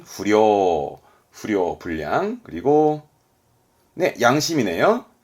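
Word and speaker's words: 不良: 발음은 후려, 후려, 불량.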